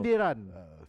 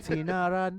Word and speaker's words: sindiran: Sindiran. Sindiran, correct. Bukan sinaran, bukan Oh, sindiran.